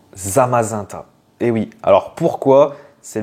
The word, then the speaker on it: Zamazenta: c'est le même principe est-ce qu'on dit zamazanta ou zamazenta et bien on dit on doit le prononcer normalement zamazanta et oui alors pourquoi